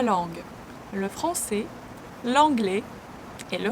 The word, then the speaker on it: langue: 3 S is not pronounced and langue, ES are not pronounced.